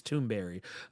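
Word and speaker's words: Thunberg: Basically, kind of becoming like a Greta Tunberg or or actually I've come to find it's actually not pronounced Tunberg. I think it's Tombberry.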